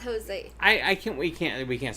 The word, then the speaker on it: Jose: it's Jose. I can't. We can't say brand name. Oh, everybody knows Okay, it's okay. tequila, but only one brand. It rhymes with Mose.